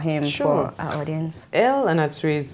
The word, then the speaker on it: Anatsui: on, yeah, if you're the typical average Ghanaian person and you're pronouncing it in the Ghanaian way, it's Anatsui, you know. But for the rest of humanity, it's Anatsui. It's Anatsui. Pronounced just as it's spelled, but the right pronunciation is Anatsui.